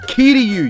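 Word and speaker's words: Kiryu: help the correct way to pronounce it is key to you you I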